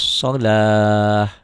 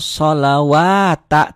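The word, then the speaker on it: الصلاة: Kalau orang yang enggak punya ilmu, enggak punya pengalaman. Orang kan enggak salah. Maksudnya enggak salah, kan memang tulisannya sholawata tuh.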